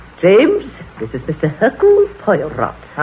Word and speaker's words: Hercule Poirot: Hercule Poirot. How do you do, sir? Mr. Poirot is our new neighbor. If I may be permitted the one slight correction, my name is Hercule Poirot.